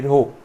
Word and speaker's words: rho: ये जो सिंबल है उसे हम क्या प्रोनाउंस करते हैं, रो।